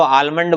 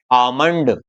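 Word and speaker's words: almond: हम सबसे ज्यादा गलती यहाँ पर करते हैं, है ना, इसको आलमंड बोल देते हैं। इसको आलमंड नहीं बोलेंगे, इसको बोलेंगे आमंड।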